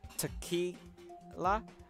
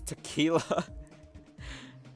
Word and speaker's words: Tequila: moment I said it I was like ha Tukey la oh it's tequila god I haven't last